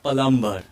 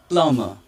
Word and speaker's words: plumber: will create their pronunciation the word is plummer yeah exactly it's not like palumbo it's a plumber it's a plumber and